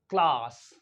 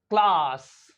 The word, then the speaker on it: class: we pronounce this word in British English C एल ए एस एस क्लास सी एल ए एस एस क्लास एंड ए एस के